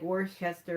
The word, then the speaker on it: Worcester: I know it's spelled like Worcester, but I think it's Worcester.